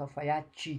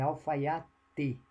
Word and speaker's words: alfaiate: Nós falamos alfaiate, como se fosse um I no final, mas é alfaiate, né?